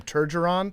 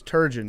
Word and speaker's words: Turgeon: was awesome turgeon is an all-time uh dad mispronounced name yeah dad's across america either call him turgeron yeah or they call him sturgeon which is actually the name of a fish yep but it's turgeon yeah this mark turgeron guy i also like